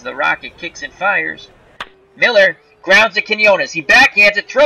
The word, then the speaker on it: Mueller: His name is spelled M-U-E-L-L-E-R, but it is pronounced Miller. It looks like Mueller, but it's Miller.